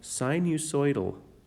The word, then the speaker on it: sinusoidal: But if that pattern that repeats looks like a wave, like the sine curve or the cosine curve, then it's called sinusoidal. That's how you pronounce that word.